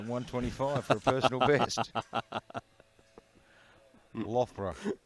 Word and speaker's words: Loughborough: Loughborough. Loughborough. Loughborough. I was close. I'm going to make you pronounce the Russian ones.